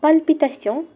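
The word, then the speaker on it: palpitation: Of plural ফর্মে এবং পালপিটাশন অর্থ হার্টবিট বেড়ে যাওয়া। পালপিটেশন একদম প্রায় ইংরেজি শব্দ প্যালপিটেশনের মতো, এখানে শুধু উচ্চারণটি একটু ভিন্ন। ইংরেজিতে যেমন প্যালপিটেশন, ফ্রেঞ্চে তেমনই পালপিটাশন।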